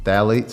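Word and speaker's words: phthalates: label and you see phalates it starts with a P the p is silent but the phalates when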